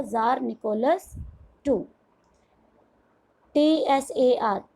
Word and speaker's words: Tsar: TSAR, T is silent here, the pronunciation is Tsar, ज के नीचे बिंदी, ज़ार निकोलस II.